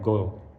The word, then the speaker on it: Galle: Amala in go go it's actually spelled g a l l e but pronounced more like go in Sri Lanka